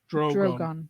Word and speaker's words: Drogon: It's pronounced Drogon.